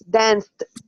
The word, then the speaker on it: danced: So this is the first time that I recognize that it's danced. End with t, not the.